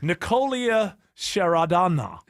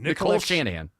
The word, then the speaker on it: Nicole Shanahan: Nicolia Sharadana. Your vice president, whatever. I don't know how to say it either. What's her name? Nicole Shanahan.